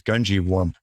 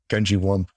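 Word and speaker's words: Gungywamp: And the way I heard people pronounce it was Gungewamp, like Gungewamp.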